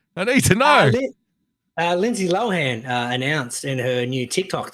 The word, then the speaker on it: Lohan: If we just had Lindsay Lohan blows everyone, or Lohan, apparently as it's meant to be pronounced. Lohan.